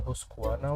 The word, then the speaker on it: Husqvarna: and buy some trying to buy chainsaws the Husqvarna one and yes that's how you pronounce it uh so I have the